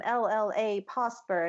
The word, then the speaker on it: Llapawsper: But on Twitter, I am LLA Posper, and I have been told to make sure to spell that out because it's LLAPAWSPER, like a dog paw.